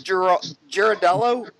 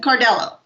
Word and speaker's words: Ciardello: And then there's Girardello. It's Cardello. It's what? Cardello. Cardello, but it's spelled Ciardello.